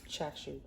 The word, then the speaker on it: chashu: I think it's Chashu. That's not cashew. Cashew's a nut's not spelled like that.